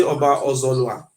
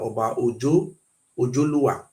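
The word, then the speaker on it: Oba Ozolua: Then this one I say Oba Ozolwa. He say Oba Ozolwa. He say the original pronunciation for here is now Oba Ojoluwa.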